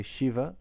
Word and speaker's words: Shiva: when we say so most people say shiva correctly because it's a palatal sibilant and that's what we're used to in english shiva shiva the cerebral